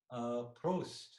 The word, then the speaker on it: Prost: Prost.